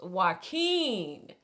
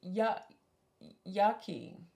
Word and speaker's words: Joaquin: y'all's patreon I check it every day it's pronounced Joaquin laugh out loud so that's how you say it Joaquin yeah yeah so you were close I think no spot on no you said yucky yucky you say yeah Joaquin it's why it's